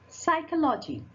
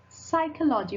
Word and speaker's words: psychology: This is P is silent here. Psychology. Psychology.